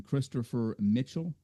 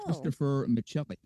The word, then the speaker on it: Christopher Michelli: I've been calling him Christopher Mitchell. That is not correct, Lisa Monroe. I've totally blown it. It's Christopher Michelli.